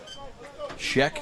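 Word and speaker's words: Schoeck: Scheck, spelled S-C-H-O-E-K, O-E-C-K. See, I can't even spell it. I can say it because I remember it's Shrek without the R.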